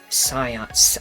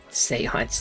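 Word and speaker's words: séance: Science science again. Listen. Seance, that's how you say it.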